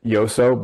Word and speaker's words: Joso: related to Katrina and the other one is pronounced yoso but we got so used to saying Jose it's hard to switch but he also Levy